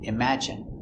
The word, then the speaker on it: imagine: the e sound nicotine and sometimes it's sounds like it imagine in imagine there's no way to